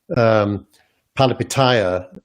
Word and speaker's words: Palihapitiya: The other approach, which Chamath Palihapitiya is doing. Good job with the pronunciation.